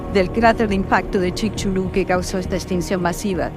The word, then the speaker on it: Chicxulub: Hagamos una breve pausa y volvemos a hablar de Chicxulub y del turismo científico. Chicxulub. Y al fin voy a explicar cómo se escribe. C-H-I-C. Chic. X-U-L-U-B. Chulub. Chicxulub y su población, que